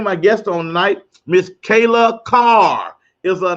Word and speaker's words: Kyla: I'm so used to saying Kayla, but it's KYLA. But you won't get late for dinner. I want to get your name right. So it is KYLA CARR. Yes, sir. I said it right that time because there's no A in your name.